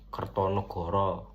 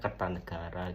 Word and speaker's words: Kertanegara: pada bahasa-bahasa yang digunakan contohnya kertonegoro padahal aslinya Kertanegara gitu Gajah Mada Bukan gajah modo Gajah Mada terus ee kata dalam